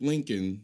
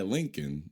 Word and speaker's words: Lincoln: How do we pronounce it Lincoln when that's not how it's spelled? Are we going to get into this now? Damn you English. But yeah, Lincoln.